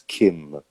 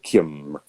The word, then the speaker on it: Kiem: Donc, c'est ça, c'est que ça s'écrit Kiem, mais ça se prononce Kim. Donc, Kim.